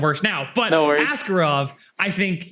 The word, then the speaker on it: Askarov: Askarov? Which guy, sorry? Askarov.